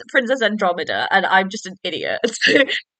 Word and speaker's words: Andromeda: I was like how that mind you my pronunciation sometimes is awful I was like why did I say princess androma princess Andromeda like why did I say like that so